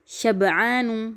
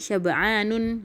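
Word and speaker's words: شبعان: Kemudian juga jau'anu, bukan jau'anun. Syaba'anu, bukan syaba'anun gitu.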